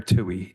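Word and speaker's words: Tuohy: Inspector Tui, could you please state your name and spell it for the record? Yeah. Get close to the mic. No problem, sir. Inspector Tui.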